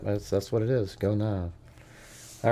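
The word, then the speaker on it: Gonâve: Go Nav. Go Nav. Is that right? Yep. That's That's what it is. Go Nav.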